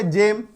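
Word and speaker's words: gem: लेकिन कंडीशन क्या है, शर्त क्या है, जी के बाद अगर EIY हो तो उसका उच्चारण ज है ना, ग नहीं ज पढ़ते हैं। एग्जाम्पल क्या है, जी के बाद देखिए ई आ गया जेम, जी के बाद अगर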